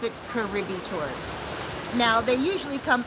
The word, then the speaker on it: Cabarete: But here we pronounce it Cabarete Tours.